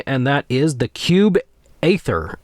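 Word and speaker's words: Aether: that is the cube ather ether I'm always never sure how to pronounce it's AE t h e r so I think it's like ather or e but it almost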